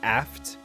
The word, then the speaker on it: aft: So, I'm not supposed to say AFT, it's aft? Is that how you say it, Risky?